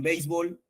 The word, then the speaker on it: béisbol: gustan revísela optativa s la palabra béisbol se también tiene una forma alternante de pronunciación b o bisb en bisb tenemos Qué tipo de palabra bis aguda y en bisbol grave muy bien palabra grave